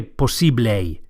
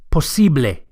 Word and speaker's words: posible: say possible in spanish the word is posible possibly the second syllable the e is accentuated posible and the final a sound posible is a pure vowel not a don't say posible but posible impossible in spanish is